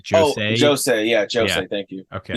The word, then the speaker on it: josei: So I don't know how a J is pronounced in Japanese, but it's like josei.